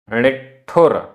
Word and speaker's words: णिठुर: णिठुर आधा ट ठ, णिठुर वयणम, णिठुर वयणम।